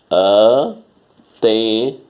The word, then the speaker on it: antena: Antena. Ou antena. Antena. O T é o mais forte, então ela é uma paroxítona.